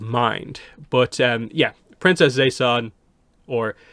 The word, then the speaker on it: Zeisan: keep in mind the the way it's spelled is z e i s a n but they pronounce it as if it's the S and the Z are like reversed that's like say Zan rather than Zay San now I don't know